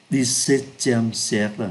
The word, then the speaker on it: XVIIe siècle: Chỗ này chúng ta phát âm là XVIIe siècle. Nếu viết ra thì nó như thế này. Và chúng ta đọc là XVIIe. XVIIe, thứ 17, XVIIe siècle.